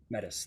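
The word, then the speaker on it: Metis: I'll I'll say his name was it mettis mettis that's right m e t i s mettis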